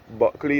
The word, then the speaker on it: Bulkley: Buckley is Bulkley, that is how it is spelled.